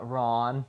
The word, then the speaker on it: Ran: Okay, so we just finished uh Ron, which um I was corrected if that's how that's how you're supposed to pronounce it.